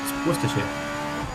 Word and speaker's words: Worcestershire: It's Worcestershire. It's a shirt. Oh. It's not a sheer. Worcestershire.